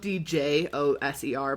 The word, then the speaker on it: Djoser: which is it's spelled d j o s e r by the way, in case you're wondering to look it up. It's not with a z, but it's pronounced Djoser.